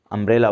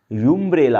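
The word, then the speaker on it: umbrella: Wavell letter है, और इसका प्रोनाउंसिएशन भी यू का यू नहीं है, आ है। अगर इस यू का प्रोनाउंसिएशन यहाँ पर यूम्ब्रेला होता, अगर इसे यूम्ब्रेला पढ़ा जाता, यूम्ब्रेला, तो एन न लगता, ए लगता, क्योंकि इसका प्रोनाउंसिएशन यूम्ब्रेला नहीं है, अम्ब्रेला, अ जो एक वावेल साउंड है।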